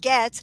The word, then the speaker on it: Goetz: But if you go to the Goetz bookshop, you spell it Goetz is my name, but you pronounce it Goetz.